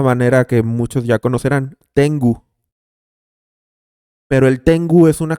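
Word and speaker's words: 天狗: exactamente así tiango eh Y es tengu en japonés se pronuncia tengu y tiene un significado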